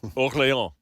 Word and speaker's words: Orléans: pronounce the S. Orléans.